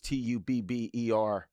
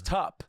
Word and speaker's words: Tupperware: I just mispronounced the word Tupperware because I thought it was Tubber. Oh, that's so Like funny. a tub. That's so but good. it was tup.